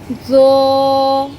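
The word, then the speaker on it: ظ: তো এটা কিন্তু আমরা বাংলা বর্ণের ত না, এর উচ্চারণটা হবে তো, জো। এই জ উচ্চারণের সময় আপনার জিহ্বার আগাটা একটু সামনের দিকে সামান্য একটু বেরিয়ে আসবে।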